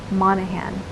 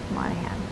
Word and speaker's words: Monaghan: my name which is anna spelt with one n and uh monahan with a g m-o-n-a-g h-a-n monahan well as far as art